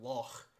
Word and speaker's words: loch: So we have the word loch, which is pronounced with that letter. The and in the German word Bach, which is slightly different, but it still works.